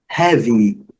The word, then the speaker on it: heavy: Heavy, interessante a separação de sílaba, a palavra a pronúncia é have e a última sílaba é heavy, ok? Letra Y muito bem pronunciada com som do I curto, heavy.